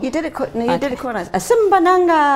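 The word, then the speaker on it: Asimbonanga: I hope I pronounced that well. You did it quite nice. Azimbonanga. Azimbonanga.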